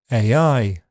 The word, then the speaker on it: AI: On its own, the stress is on I, AI. But if any content word appears after it, the stress shifts to that. So, AI robot, for example.